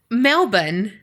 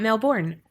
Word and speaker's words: Melbourne: Okay, I was so confident that it was Saoirse, but then she said it's pronounced Saoirse. I suck. But to top it off, Carrie just told me it's Melbourne, not Melbourne.